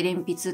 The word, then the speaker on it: 連筆: こっちが連筆、連なる筆と書いて連筆と読むんですけ